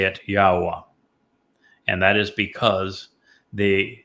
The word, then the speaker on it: Yahowah: And the verb haya explains how to pronounce the he and the yod.